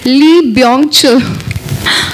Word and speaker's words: Lee Byung-chul: Founded by, guys, it's a difficult pronunciation, it's Lee Byung-chul.